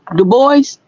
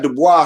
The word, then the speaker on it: Dubois: Du Bois?